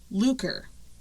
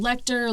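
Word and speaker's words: Leuchter: fall of fred a looker lecter depending on who you're talking to they pronounce it different it's spelled out german l-e-u-c-h-t-e-r and some people call him lecter luker it yeah it definitely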